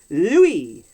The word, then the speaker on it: Louis: i realized oh that his name is meant to be pronounced louie they like french yeah